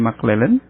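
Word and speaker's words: McClelland: dari modul maklelen ya Ini bacanya mclellen kemudian ini STAD at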